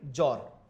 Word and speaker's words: জ্বর: কারণ এক্ষেত্রে আমরা উচ্চারণ করি জ্বর, সেক্ষেত্রেও কিন্তু আমাদের বফলা উচ্চারিত হচ্ছে না।